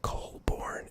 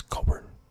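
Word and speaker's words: Colborne: words is that when I try to say Colborn, it comes out as Colburn, which is just Coburn, which is a different player, Braden Coburn, but not Joe Colborn.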